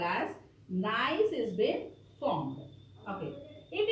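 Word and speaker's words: gneiss: e i s s nice you have to pronounce this as nice nice nice g and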